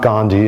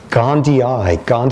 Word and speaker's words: gondii: And not Gandhi in the Gandhian sense, but probably because it's even pronounced differently. Okay, how are you pronouncing it these days? Gondii, because there's two I's at the end, which